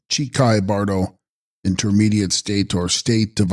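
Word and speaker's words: འཆི་ཁའི་བར་དོ: Text: Hichai Kahi bardo, pronounced Chikai bardo, intermediate state or state of uncertainty of the dying moment or moment of death.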